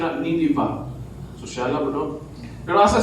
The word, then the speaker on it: Nineveh: From Jerusalem to Nineveh, or ang yun nila, ang insakto na pronunciation na Nineveh.